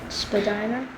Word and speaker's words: Spadina: If you would have to respect something, then I would say it the correct way, but not to be rude. If other people had an accent like Kayden said, I would probably pronounce it Spadina.